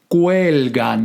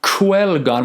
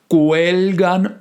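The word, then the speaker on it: cuelgan: we go on quelgan notice how i have a kur and aga because it's not guelgon with a strict gu and it's not quelgon with a strict there's a mixture we gotta pronounce the k but then it comes out with a mixed gu sound as well quelgan fruttos frutos de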